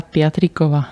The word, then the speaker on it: Piatrikova: Patriova.